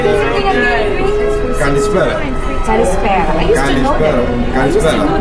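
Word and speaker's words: καλησπέρα: Kalispera.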